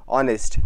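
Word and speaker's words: honest: consonant भी लगा होगा बट आपको पता है यहां पे एच साइलेंट होता है और यहां पे ओ से साउंड आती है ठीक है ऑनेस्ट तो यहां पे कौन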